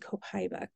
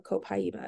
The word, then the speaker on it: Copaiba: super mint diges and Copa or copaiba if you want to say it the correct way I don't always say it properly so super mint is